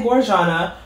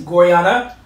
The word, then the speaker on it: Gorjana: I was gonna say Gorjana, but I believe the J is pronounced like the J is the Spanish J, so yeah, versus ja. And yes, Gorjana.